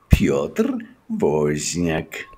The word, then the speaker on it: Piotr Wozniak: One last time:Krzysztof Biedalak, Piotr Wozniak.